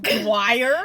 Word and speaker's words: Dior: is she say do like that like dwire because I know what how Dior is spelled but I heard other people saying dwire and so I was like okay I just want to say his name correctly it's kind of like